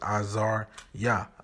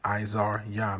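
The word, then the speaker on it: Azaryah: okay which i'm gonna start pronouncing my name as you were pronouncing it in the paleo hebrew which is azar yah izar yah meaning yeah how would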